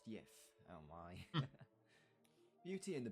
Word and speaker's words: gif: Old English word GIF, if, pronounced YIF.